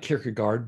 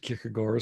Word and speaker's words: Kierkegaard: in that book kierkegaard it looks like kierkegaard but danes pronounced it kikigore so take your pick kierkegaard describes dread as